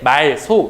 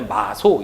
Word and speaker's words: 마소: 동물을 동시에 말할 때 말소 이렇게 발음하지 않고 뭐라고 발음 하겠냐 마소 이렇게 발음을 하게 되는 거죠 여기 보심 아시겠지만 끝나는